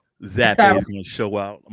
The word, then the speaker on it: Zappe: It ain't even Zappy. It's Zappe.